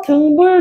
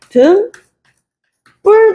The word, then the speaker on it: 등불: 그러면서 발음을 우리가 어 등불 좀 켜라고 얘기하는 사람 없잖아 등불 좀 켜가 아니라 등 뿔 좀 켜 등불 좀 켜 요렇게 발음이 되는데 어 렇게 된 소리로 어 발음이 돼 사이 소리 현상 중에 하나야 된소리 되기 할 때도